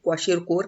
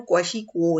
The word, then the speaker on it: Kwashiorkor: रहा है वैसे KWASHIORKOR, नाम को देखे तो लगता है कि इसको क्वाशी और कोर कहना चाहिए, लेकिन इसकी जो प्रोनाउंसिएशन है वो क्वाशी को है। मतलब ये वाला जो आर है ना, ऑलमोस्ट दोनों साइलेंट है।